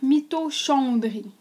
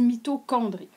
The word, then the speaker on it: mitochondrie: la mitochondrie mitondrie ici qui s'écrit bizarre là en fait si on lisait comme c'est écrit il faudrait lire myochondrie mitochondrie mais en fait on dit mythchondri à quoi ça sert